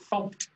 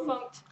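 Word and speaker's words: fmt: A quick question, why is it funct? Actually published a thing from the Go team that says that is how you pronounce the format.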